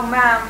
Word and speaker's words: ma'am: Now, ma'am, as the chat. Madam. Ma'am, 1 syllable.